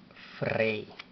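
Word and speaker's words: ፍሬ: Y para dar sonido a esta vocal diríamos EY, para mantener el sonido que da la palabra rey. De hecho, así se dice rey.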